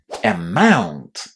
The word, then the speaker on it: amount: The letters O U can be pronounced in a variety of ways in English, but in this particular word, we pronounce them as ow.